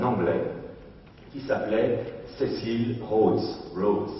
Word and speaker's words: Rhodes: Rhodes, si on veut le prononcer à l'anglaise. Rhodes, R-H-O-D-E-S.